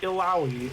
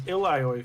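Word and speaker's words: Illaoi: go I just can't so I've read her name as ilio for so long which by the way both are official pronunciations of that name and accepted there's actually a third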